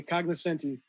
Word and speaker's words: cognoscenti: and john you could correct me if i mispronounce this one uh is it cognoscenti cognizant yes the cognoscenti the thoughts and opinions page of the wbur